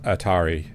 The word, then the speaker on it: ATRI: I believe it to be Atri, My Dear Moments. But however, because Japanese, they can't pronounce two consonants in a row. They pronounce it Atari.